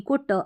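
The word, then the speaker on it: caught: का आ रहा है, लेकिन GH यहाँ पर जो होता है साइलेंट रहता है।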